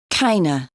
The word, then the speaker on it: kind of: the words for example kind of sounds like kaina sort of sounds like